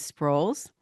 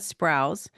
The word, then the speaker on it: Sprouls: the last name is Sprouls, not Sprouse. Okay? The U is always mispronounced.